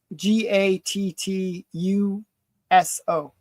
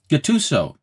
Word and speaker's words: Gatuso: I'm terrible at pronouncing things. Uh, Gat G A T U SO Gatuso.